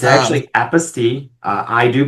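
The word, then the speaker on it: apostille: they actually have the phonic spelling out and they said this is why it's pronounced this way because it's French and it's apaste and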